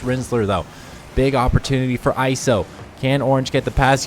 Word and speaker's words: ISO: control on the goal line, whereas, is it ISO, am I pronouncing that correctly?